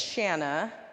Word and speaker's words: Shana: name ever again so my name is Shanna it rhymes with banana and it's one of